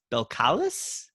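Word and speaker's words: Belcalis: spanish what's the first one b east b-e-l-c-a-l-i-s belkalis i'd have to write it down i can't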